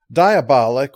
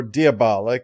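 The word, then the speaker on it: Diabolik: you couldn't watch this diabolic or diabolic is pronounced both ways is based on a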